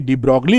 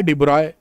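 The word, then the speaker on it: de Broglie: जो वेवलेंथ होती है देखिए डि ब्रॉकली लिखा हुआ है और पढ़ना क्या है डिब्रॉय बी आरओ वाई पढ़ना है देखिए अरे यार नाम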